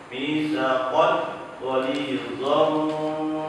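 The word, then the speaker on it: مِيثَاقًا غَلِيظًا: Kalau sejajar berarti dia izhar dan tidak perlu lagi ragu-ragu untuk membacanya, jelas atau samar ketemu pasti jelas. Mitsaqan ghalidha, bukan mitsaqan atau mitsaqan, jelas tapi jangan ditahan, harus segera pindah ke huruf berikutnya.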